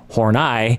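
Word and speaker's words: Horney: the name of Karen horai and I was referring to her as Horne the entire time and uh now I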